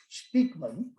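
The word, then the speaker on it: Spykman: spelled spikeman spy k m a n but pronounced speakman conceived of the rimla and his thing is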